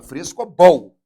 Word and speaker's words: frescobol: A última sílaba, frescobol. Essa é uma palavra oxítona.